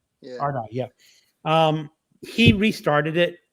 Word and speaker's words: Ardai: Ardai.